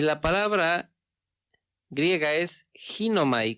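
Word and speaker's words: γίνομαι: la palabra griega es ginomai, con G y acento en la primera I, ginomai, y esto es hacer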